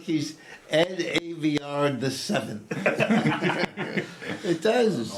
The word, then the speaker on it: Aveyard: How do you pronounce it? Aveyard.